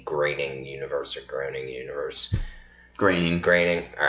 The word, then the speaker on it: Groening: Groening.